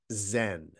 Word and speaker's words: Zen: just Chan and then that character goes to Japan where they pronounce it Zen and I just like